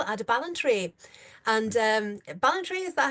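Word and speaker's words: Ballantrae: um smugglers festival at a balentry and um Balentry, is that how you say it? Balentry.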